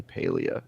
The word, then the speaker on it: Palia: internally call it, and they said that it's pretty unanimously Palia internally.